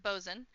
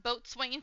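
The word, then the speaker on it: boatswain: Pirate Bzen uh because it's pronounced Bzen uh would not be hit by a cloud of Dogggers. No. I also thought it was pronounced I also thought it was pronounced boat swinging for the longest time.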